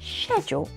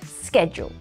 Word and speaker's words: schedule: or schedule for example in Britain they say schedule with a soft sh sound sh sound but in America they say schedule it's like we are